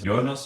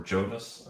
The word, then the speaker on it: Jonas: all right cool myself my name is yonas or Jonas whichever language people prefer or whichever pronunciation I work for Vol